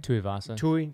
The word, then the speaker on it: Tuivasa: Tuivasa. Tuivasa. Tai. Tai Tuivasa.